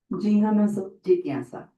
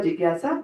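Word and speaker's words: जिज्ञासा: The J and the N is pronounced as Gyan. Like in our language, we have Kshatri Gyan, right? In the Varnmala, Kshatri Gyan, right? So Gyan. It's a little nasal tone there.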